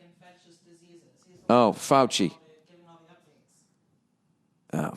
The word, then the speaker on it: Fauci: Nia, how do you pronounce Fauci? Fauci. Fauci? Dr. Fauci? Oh, I was going to say Fossey.